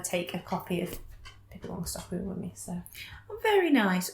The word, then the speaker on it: Pippi Longstocking: Me and my family have always pronounced it Pippi Langstocking, but I think people around here would know it's Pippi Longstocking. Don't ask me why it's been Langstocking. I don't know if it's the German pronunciation or what.